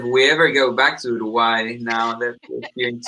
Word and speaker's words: Uruguay: I want you to say it like David says it. Uruguay. Uruguay. Uruguay. Yeah, the U is just Uruguay.